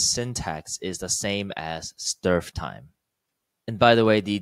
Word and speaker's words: strftime: The second topic is called strftime, or at least that's how this word seems to be pronounced in the computer science community.